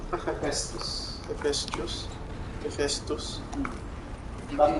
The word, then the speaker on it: Hephaestus: Aloy, Hephaestus can't escape, but it must have fled.